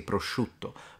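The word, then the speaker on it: prosciutto: can add to this the intensity of the sh sound the sh depends on where you're from in Italy in the sense that the further south you go the stronger that one becomes even mine is a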